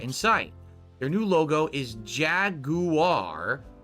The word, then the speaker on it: Jaguar: Their new logo is Jaguar, emphasizing the British pronunciation Jag-U-R.